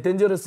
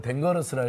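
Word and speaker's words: dangerous: 근데 덴저러스 옛날에 발음 덴거러스라고 해가지고 막 혼나고 그랬는데. 지금 그 이 얘기 하려고 쭉 이어서 하신 거 아니죠?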